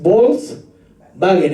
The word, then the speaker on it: Volkswagen: Si alguien en Alemania pronuncia la W, va a decir Volkswagen. ¿Se recuerda la palabra? ¿Cómo se escribe Volkswagen? Con una W, pero no dicen Volkswagen, ¿no? Sino es Volkswagen, es como una V.